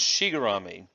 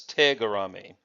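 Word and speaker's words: tegarami: say oh this is Xi gourami because that's what the board's in the in the dojo said that this was a sugar ami but actually that doesn't say that it says tiger ami one might argue that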